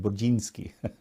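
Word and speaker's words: Burzyński: Brudzinski from Texas. Actually, in Polish, you would say his name Budzinski, but that's how I always thought it.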